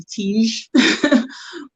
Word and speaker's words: Teague: johnson and you know hillary teague as librarians pronounce it hillary tiege i mean these are